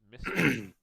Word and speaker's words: MSCHF: with a company called i'm assuming this is pronounced mystery mschf um to basically come